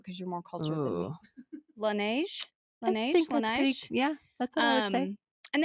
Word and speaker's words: Laneige: you do it because you're more culturally cool laneige nice yeah that's um and they have all